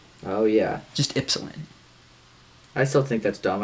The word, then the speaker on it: Ypsilanti: And remember when you did like the Yipsa whatever to me? That shit. Yeah. Bullshit. Do you know how to pronounce it?